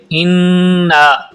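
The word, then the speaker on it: إِنَّا: بسم اللہ الرحمن الرحیم۔ انا اعطیناک الکوثر۔ انا اعطیناک الکوثر۔ انا پہ پہلے نون پہ شد ہے اور اس تشدید کی وجہ سے یہاں پر غنہ کریں گے۔ انا یعنی آواز کو ناک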